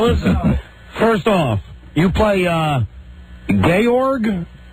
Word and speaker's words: Georg: First off, you play Georg? The accent is not on gay. In The Sound of Music. Sort of the Austrian version of George, and it's Georg.